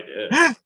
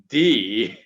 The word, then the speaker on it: Dea: The report came out today, essentially, that Dean's sister, Dee, which is spelled exactly the same way as Dean, without the N, of course. It's D-E-A. So I'm assuming her name is pronounced D.